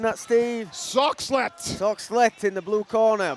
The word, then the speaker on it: Soxhlet: How are we pronouncing that, Steve? Soxhlet.